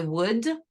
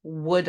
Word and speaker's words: would: so same thing I would affirmative tag would I negative tag wouldn't I we don't pronounce the L you would would you